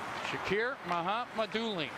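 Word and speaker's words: Shakir Mukhamadullin: Shakir Mahamadulin. Thank you, Yulia Ivanova, for the pronunciation.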